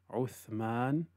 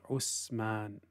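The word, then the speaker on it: عثمان: don't say at at from the common mistakes in the pronunciation of the letter is that the tongue is not allowed to protrude I is not slightly out so a person ends up pronouncing it like the letter scene for example instead of saying oath man they say Osman because they didn't put the tip of the tongue slightly out another mistake is making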